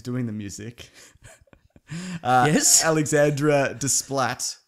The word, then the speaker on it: Desplat: Alexandra Desplat. That's probably not how you say it. It's probably Desplo or something like that. No, it's Splatto. Splato.